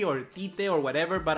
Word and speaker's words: Tite: Tite or whatever, but I think his pronunciation is Chichi, because once I talked with this girl who was from Portugal, I mean Portuguese, they speak the same language, and I asked, how do you pronounce Tite? And she said Chichi, so I'm gonna go that way.